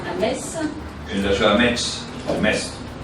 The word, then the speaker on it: Metz: Para mí siempre Metz, la región de Metz. No, y ella dice Metz. Entonces es que se dice Metz aujourd'hui porque Metz recuerda la época de la ocupación alemana.